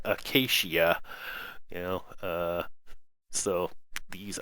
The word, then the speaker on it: acacia: trees and I did finally figure out how to pronounce about them they're called Acacia you know uh so